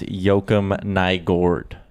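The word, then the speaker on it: Joakim Nygård: Today on the radio with Low Tide, he says he talked to someone and it's Joakim Nygard.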